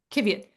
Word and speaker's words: Qiviut: I'm going to spell it Qiviut. All right, Kiviot.